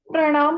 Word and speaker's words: प्रणाम: और परिणाम प्रणाम परिणाम अब प्रणाम और परिणाम में आपने क्या देखा कि प्रणाम में इकट्ठा प्र आ रहा है आ रहा है ना प्र परिणाम में स्पष्ट उच्चारण क्या हो रहा अलग अलग हो रहा इसको हम पढ़ते हैं प्र और इसको पढ़ते हैं